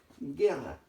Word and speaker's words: guerra: Guerra. Aquí hay dos vocales. ¿Las dos vocales se pronuncian en un solo sonido? No, ¿verdad? Cuando yo digo guerra, solamente estoy pronunciando la E. No estoy pronunciando la U.